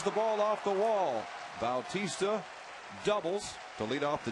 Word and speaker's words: Bautista: and it's a strike you've often seen that name pronounced Batista but Jose prefers the pronunciation Bautista and that's why we